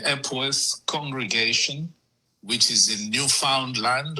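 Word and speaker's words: Newfoundland: congregation which is in Newound land or as the locals say Newf Finland.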